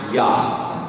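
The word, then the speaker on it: Yost: hi all right and his last name is pronounced yast yast I have him as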